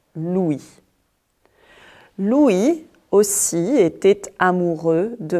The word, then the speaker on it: Louis: Mais on ne prononce pas le S final. Louis.